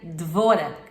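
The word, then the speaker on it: דבורה: de Israel se chamava Débora que em hebraico se pronuncia dvora e dvora significa abelha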